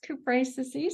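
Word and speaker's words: Cupressaceae: It's in the family Cupraceae, I think is the way Good it's pronounced. job. Yes, Cupraceae.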